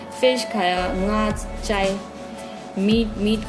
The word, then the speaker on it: nga: Fish nga, N silent रहेगा, GA nga।